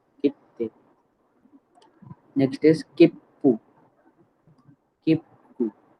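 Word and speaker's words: 切符: Okay, तो इधर क्या है, ते क्या है, तो डबल टी प्रोनाउंस होगा। की, देन छोटा सु, और फिर ते, कित्ते। नेक्स्ट इज किप्पू, किप्पू, सो किप्पू मतलब टिकट्स।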